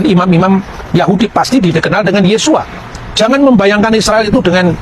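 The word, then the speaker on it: Yeshua: Yesus ketika dia orang Yahudi dia pasti membaca yesua yang percaya bahwa Yesus itu Mesias pasti membacanya yesua hamasiah nah yesua ha masiah itu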